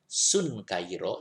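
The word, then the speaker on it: συγχαίρω: kata Sun Kairo saudara memang tulisannya Suk Kairo Tapi bacanya Sun Kairo saudara ada kata sun sun itu artinya bersama-sama Paulus juga ingin mengajak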